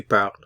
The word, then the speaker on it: parles: the informal u t to notice the s ending which is not pronounced to you speak to par you speak to Bar